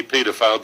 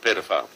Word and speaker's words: paedophile: You've got to remember it's really paedophile because it's spelt like encyclopedia. All right, yeah. So you do, isn't it? Yeah. So you say paedophile, not pedophile.